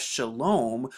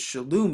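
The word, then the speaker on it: שלום: it as shalom but the reason we pronounce this shalom is because we have the shan right here so we know that makes the s h sound we have the lamb right here which makes the l sound but then we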